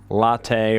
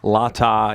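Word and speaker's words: latae: muscle your tfl or tensor fascia latte or latta you'll hear it pronounce it a couple different ways your tfl and the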